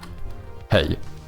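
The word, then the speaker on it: hej: Um, the easiest way to do it is to literally just say hey, which is the J is soft. So, it's basically pronounced the same as in English.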